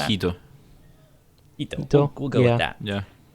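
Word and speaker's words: Jito: The Hito, I don't know why I pronounced that with an H and not a J. I don't know how you. I believe pronounce it's that. Hito. Hito.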